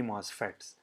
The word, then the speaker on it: MOSFET: and pmos transistors okay nmos phets and p mosfets is the right way to say it okay so first of